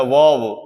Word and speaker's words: verb: इसमें are silent रहता है, वर्ब, वर्ब नहीं होता है, वर्ब, यानी हिंदी में इसको बोलते हैं क्रिया।